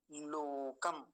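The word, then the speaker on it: लोकम्: भी देख लीजिए ब्रह्म लोकम लोकम तो आसान है मकार के नीचे यहां हलंत है इसलिए लोकम पर ही रुक जाएंगे अगर मकार अगर यह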